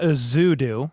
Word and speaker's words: Ezeudu: Just real quick, Joshua Ezeudu is how you say his name.